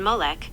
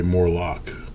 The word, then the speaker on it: Molech: Some commentators connect Baal or his close companion Molech who demanded child sacrifice to Okay, that's the that's the I'm saying it wrong. Says me Molech. Molech. I always say Morlock.